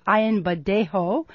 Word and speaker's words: Ayanbadejo: The Baltimore Ravens, who won the Super Bowl, of course, including outspoken advocate for LGBT equality, linebacker Brendan, I never pronounce his name right, Ayanbadejo.